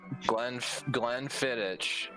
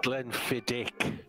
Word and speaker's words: Glenfiddich: Glenn Fittich, Bourbon Barrel, 14 years. Motherfucker. It's Glenfiddich, not Fiddich.